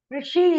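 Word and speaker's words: ऋषि: Rishi is formed by Rikaraha, Shakaraha, Ikaraha. Rishi. That is the correct pronunciation.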